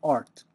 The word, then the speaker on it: Rt: application programmers interface and just like QT can be pronounced cute uh RT is also pronounced art so this is the